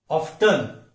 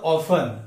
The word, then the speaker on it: often: OFTEN, ऑफ्टन और ऑफन, ऐसा confuse होता है। ऑफन और ऑफ्टन दोनों भी सही है, लेकिन ऑफ्टन ये अमेरिकन इंग्लिश में बोला जाता है और ब्रिटिश और इंडियन इंग्लिश में यूजुअली ऑफन। ये ट साउंड यहां पे साइलेंट है।